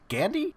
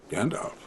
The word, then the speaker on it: Gandalf: How do you say your name again? Gandhi? Gandalf. Gandalf the Grey.